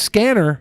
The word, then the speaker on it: SCNR: Subverse's name was changed to SCNR, pronounced Scanner, for several reasons.